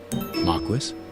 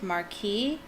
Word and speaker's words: Marquis: Pretty sure it's pronounced marquis, but it's a French word. So maybe in England it's pronounced marquis, but I'm pretty sure in France it's marquis or marquis.